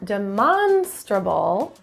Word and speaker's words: demonstrable: You'll have stress in demonstrable for the second syllable, but pleasurable is in the first syllable.